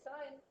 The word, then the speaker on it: sine: So we say sine, which actually spelled out is like this, or the shorthand version of that looks like sin, but you really say sine.